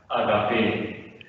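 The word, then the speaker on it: ἀγάπη: Patros que aletheia kai agape. Atención a aletheia y agape, porque es que el español nos puede como atraer hacia el agape, o bueno, el agape, pero es agape, es la sílaba menos pensada.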